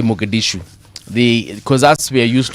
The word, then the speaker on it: Mogadishu: How is it pronounced? Mogadishu. Mogadishu.